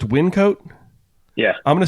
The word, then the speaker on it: Wyncote: a place in Pennsylvania that I probably can't pronounce the name of. I say Wyncote.